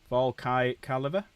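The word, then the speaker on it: Volkite Caliver: Volkai Caliber. That's how you pronounce it.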